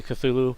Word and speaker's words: Cthulhu: little Cthulhus running around, which by the way is not how you pronounce his name, because his name is actually unpronounceable. So when people say Cthulhu is how you say it, that's actually not how you say it. That's just the closest approximation that you can come up with.